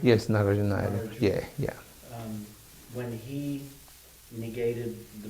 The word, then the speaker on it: Nagarjuna: just wondering, when you say that Narajuna, is that how you pronounce it? Yes, Nagarjuna.